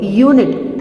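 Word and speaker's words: unit: तो आप जब इसको प्रोनाउंस करोगे यूनिट, यू, तो ये वाला शब्द यूज होता है य, यूनिट य, क्योंकि ये व्यंजन है इसीलिए यहाँ पर यूज हुआ है ए.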